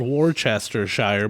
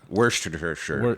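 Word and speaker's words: Worcestershire: verses how it's said now it's spelled Worchester Shire but they pronounce Worchester Worster Worster Worster sure no what is worst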